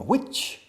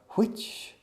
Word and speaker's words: which: Which. Hay dos pronunciaciones. aspirando la H, como soplar, which o which table. Both are correct.